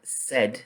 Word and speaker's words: said: Then we've got lay, laid, pay, paid, say, said. The sound is different, but the spelling is the same as the other two.